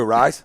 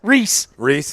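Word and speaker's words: Rhys: I botched his name 12 times the first 12 times I saw him. So Reese Hoskins.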